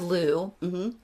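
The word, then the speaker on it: Lugh: you want to yeah so uh the god Lou just so our listeners know l u g is how it's spelled um and then also sometimes uh llamas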